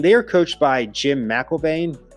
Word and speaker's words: McElwain: They are coached by Jim McElvain. I think it's some say McElwain. I'm going to say McElvain first.